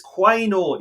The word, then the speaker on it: Quaynor: A big shout out to Joey Giacomazzo, who corrects me and says Quaynor is how you say his name, Alex Quaynor.